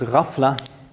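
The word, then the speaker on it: غفلة: famously referred to as rafla the GH sound is pronounced roughly like this the French R it's a kind of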